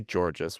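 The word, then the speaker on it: Georges: How do you say Georgees? We we've come up with against this problem before. Like George with an S at the end.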